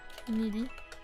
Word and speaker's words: Nidi: So charib need nidi pronounced needy crescent which I personally